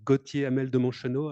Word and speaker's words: Gautier Hamel de Monchenault: So my name is pronounced Gautier Hamel de Monchenault.